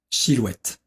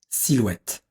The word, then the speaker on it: silhouette: japonais avec cette question j'attire votre attention sur la prononciation de la syllabe si en effet beaucoup de japonais ont tendance à tort à la prononcer comme le chi japonais faites bien attention à la différence entre 6 et shi 5quels moore entendez-vous je